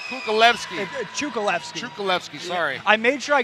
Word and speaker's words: Cukalevski: to be a war right here gentlemen chukolevsky luis melendez versus kukulevsky sorry i made sure i got the pronunciation from him because i'm so i'm picky